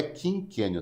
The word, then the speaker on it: quinquênio: É quando o servidor cumpre 5 anos, por isso que é quinquênio de 5, não é quinquênio, tá? É quinquênio. Essa é a pronúncia.